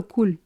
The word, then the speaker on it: cou: Because if you just said cou, like neck, C-O-U, and beaucoup, C-O-U-P, this